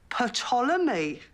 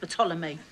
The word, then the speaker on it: Ptolemy: The P is silent, as in psychopath, Sharon. Why is it silent? But it's from the ancient Greek. They had silent P's.